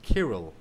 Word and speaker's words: Kirill: yeah, Cyril Jit, because we in Russian we have the same name, only it's pronounced Kirill. Okay? I know. In fact, my name is based on that, but it's more Oh. like, Irish. But the name Uh-huh. is same, the meaning is same, everything is same.